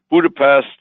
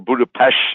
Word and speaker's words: Budapest: be going on a cruise from Vienna to Budapest, or Budapest, I'm told, I got to pronounce it properly.